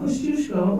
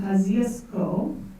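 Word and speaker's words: Kosciuszko: Mount kazis this is I know how to pronounce this the Polish way but that would give you the wrong idea Mount kushko or kazco located in the snowy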